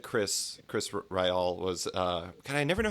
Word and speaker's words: Ryall: everything, you said Chris Ryall was, God, I never know how to pronounce that. Ryall? Just Ryle, yeah. It comes from Riley, the Irish name, so it's Ryle.